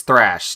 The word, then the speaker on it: Thrash: Rash is kind of... Thrash is kind of what? Choose your words carefully. That's Thrash.